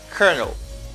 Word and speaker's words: colonel: chocolate or chocolate and here you say kernel colonel i think you learned